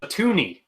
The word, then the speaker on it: toonie: That is our $2 coin, which people refer to as a toonie because it rhymes with loony.